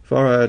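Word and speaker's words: Fard: Allah in the flesh farad is actually pronounced that way as if it were two syllables Elijah Muhammad farad's understudy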